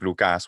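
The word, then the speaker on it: Λουκάς: reasons we know that the pronunciation of omicron ypsilon in modern Greek, which is u, obviously, like Lukas, one of the versions of my name in Greek, right? Lukas.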